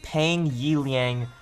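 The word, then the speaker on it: Peng Yiliang: account versing against none other than no cloud pronounce it pang yi liang otherwise known as doublelift yes this is the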